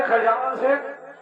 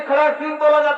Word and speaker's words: खड़ग सिंह: अरे मंत्री खवान सिंह, अरे मंत्री खवान सिंह। अरे मंत्री खवान सिंह, हे दरबारी, अगर तुम इसी तरह बुलाते रहोगे तो वह कभी नहीं आएगा। अरे, इसका उच्चारण मंत्री खड़ग सिंह है।